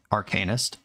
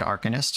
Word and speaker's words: Arcanist: Also, by the way, if you have a problem with the way that I'm pronouncing Arcanist, I said Arcanist for months back in the Legacy days, and turns out that's just not right. You consult a pronunciation guide.